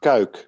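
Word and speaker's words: Cuijk: Yeah, that is pronounced Kuik, which is very close by where I live.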